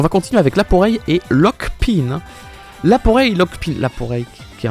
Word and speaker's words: Lockpin: Ça se dit Lockpin.